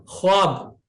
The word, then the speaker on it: ख्वाब: singing करते व क्योंकि ख्वाब खब नहीं बोलते खवाब अब यह भी बहुत